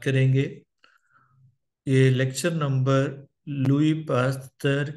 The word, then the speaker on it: Pasteur: lecture number है यह Louis हम आमतौर पर पढ़ते हैं पासर जब हम उर्दू में इसकी प्रोनंसिएशन करते हैं लेकिन फ्रेंच में लुई है एस साइलेंट है और पास्ट इसके एजेक्ट प्रोनंसिएशन है तो यह किसी तरह